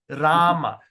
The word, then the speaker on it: Rama: Irama. So, Rama. So, when you pronounce the word Rama, you don't use straight away start Ra. Rama. We pronounce Irama. So, you just put your thing E, Rama.